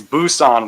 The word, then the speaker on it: Busan: well the joke is it's Busan with a B bu UA but how you say it in Korean it's like a p pan you're right right